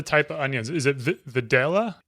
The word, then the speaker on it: Vidalia: of onions is it V videla I'll pronounce it like the locals pronounce so it's more velia velia almost like B Bia